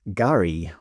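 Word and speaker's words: K'gari: Although they do have strange exceptions, like the world's largest sand island, formerly known as Fraser Island, is Garry with a silent K.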